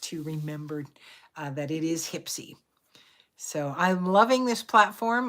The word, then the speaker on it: Hypsee: I'm working at remembering to call it Hipsy and not Hypsy, because it's spelled Hypsee. And so I automatically in my head called it Hypsy until I met with the gentleman and it was like, oh, it's Hipsy.